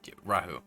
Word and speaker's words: Rahu: Specifically, he had said that if you guys had wished to find out more about this entity, Raoul? Rahu, yes, Rahu. R-A-H-U is how it's spelled.